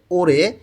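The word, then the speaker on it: 올해: ওরে এই বছর দেখেন রিউল বাচ্চিমের পরে যখন হিউক থাকে তখন র এর উচ্চারণটা জোরালো হয় এবং হ এর উচ্চারণটা হয় না বললেই চলে এখানে উচ্চারণটা হয়ে যাবে ওরে এই বছর স্যাঙ্গিল জন্মদিন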